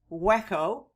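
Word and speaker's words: Hueco: on the site of the waco spelled in spanish h u e c and pronounce waco indian village near a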